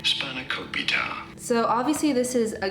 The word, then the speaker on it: spanakopita: Savory spinach pie how do you go about pronouncing it spanakopita spanakopita so obviously this is a Greek item but